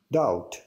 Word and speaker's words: doubt: Doubt. 3, 2, 1. Correct. That was good. Yeah. Very nice. He didn't say the B there because unfortunately the B here is silent.